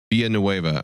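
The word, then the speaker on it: Villeneuve: terrible future written directed by I'm going to butcher the name Dennis how do you say his last name V NOA via NOA all right um starring Timothy shalam Zenia uh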